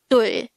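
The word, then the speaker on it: 둘: Dul. Dul. This is just composed of one syllable, which is dul. Pronounce it with me. Dul.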